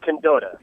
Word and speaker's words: Candotta: And I said your last name in two different ways, so which way is the right way to say it? It's Candotta. Candotta, so, the second way.